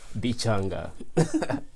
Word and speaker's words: Bichanga: pronounce that name yeah it's just so simple like that be changed like chimichanga no bichanga yeah okay and for